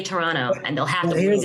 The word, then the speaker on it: Toronto: that apparently when you're from Toronto, you say Toronto. Toronto. So there you go. Toronto. Now you can know next time. Say Toronto, and they'll have to Here's listen the to That's you.